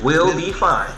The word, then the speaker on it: Will B. Fin3: The E is a 3. Will be fine.